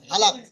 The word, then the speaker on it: হালাক: হালাক। কি বলা হয়? হালাক, হালাল, হালাল নয়, হালাক হালাক হালাক, হালাক, হ্যাঁ, কিংবা